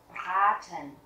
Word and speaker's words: Braten: Các bạn thấy là mình đọc âm A dài, A, Braten, thịt chiên.